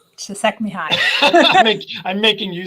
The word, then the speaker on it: Csikszentmihalyi: sort of unique place that I can never pronounce his name, but the very famous Mihai, long last name. Csikszentmihalyi.